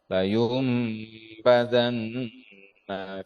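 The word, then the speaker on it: لَيُنْبَذَنَّ: hutomah ya fil hutomah layum di sana ada iqlab nun sukun bertemu dengan ba dibaca m ya layum Ah ditahan tiga harakat layumbadanna layum layumbadanna fil hutomah Kalla layumbazannail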